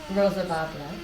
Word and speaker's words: Roz Bel Laban: Roz Bel Laban.